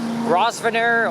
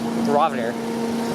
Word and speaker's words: Grosvenor: uh pronunciation if it's raspiner or some other thing well anyway the crepe pronunciation is ravner the s is silent of course i can't